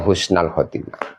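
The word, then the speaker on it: حسن الخاتمة: Saya minta kepadamu ya Allah husnal khotimah, minta husnul khotimah. Jadi bacanya husnal khotimah. Maka pelajari juga dalam lapat-lapat doa. Ya, jangan sampai keliru, karena kalau keliru nanti mempengaruhi makna.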